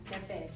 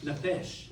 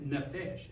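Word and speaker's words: נפש: Neesh. Nefesh. So now we're at nephesh.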